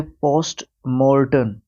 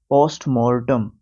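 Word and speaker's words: postmortem: है okay next है पोस्ट मर्टन पोस्ट मॉर्टम मर्टन नहीं मॉर्टम पोस्टमॉर्टम आप जानते ही है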